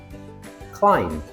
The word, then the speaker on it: climb: Some examples are lamb, climb, thumb.